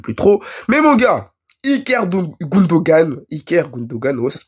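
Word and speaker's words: İlkay Gündoğan: Mais mon gars, Iker Gundogan, ouais, ça se prononce comme ça.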